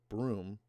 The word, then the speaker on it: Buttonholme: Trevor Buttonholme, pronounced Broom, who's some kind of paranormal whiz kid.